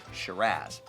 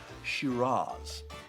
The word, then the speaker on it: Shiraz: Now, in Australia, they say Shiraz. Now, the classic pronunciation is Shiraz.